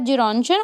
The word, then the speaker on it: Gerontion: Then Gerontion बोलेंगे, इसकी ये प्रोनाउंसिएशन होगी। 1920 में इनका ये वर्क आता है। ये ग्रीक टाइटल है जेरोंशन, और इसका मतलब है लिटिल ओल्ड मैन।